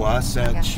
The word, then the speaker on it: Wasatch: The Wasatch Mountains. The Wasatch Mountains? Wasatch Mountains. Can you spell that, Joe? W-A-S-A-T-C-H.